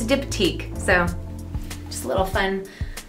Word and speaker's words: Diptyque: for a long time I thought it was dip decay but it's diptyque so just a little